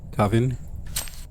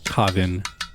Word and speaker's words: Kavin: to pronounce it, because I don't know if it's Kevin or Kavin. And I don't want to keep saying it wrong, so let me do a quick YouTube search for how to pronounce their child's name and the father's name. Okay, so I'm back. So I watched a couple videos and it seems like people are generally pronouncing it Kavin.